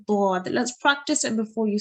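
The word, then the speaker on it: ضاد: It is a mistake to pronounce it like the letter dal. So it's not a dal, okay? It's a dad.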